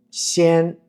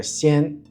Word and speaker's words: 仙: El componente shan también tiene una función fonética en el carácter xian, aunque no representan la pronunciación exacta. Suena similar y sirve como aproximación fonética para el sonido xian.